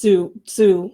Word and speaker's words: Tzu: And I actually looked up how you pronounce that, and it's just Tzu, like Shih Tzu.